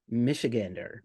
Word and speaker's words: Michigander: Michigander.